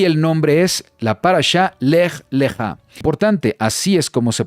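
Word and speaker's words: לך לך: Es la parashá número 3 y el nombre es la parashá Lech Lechá. Importante, así es como se pronuncia en la fonética, Lech Lechá.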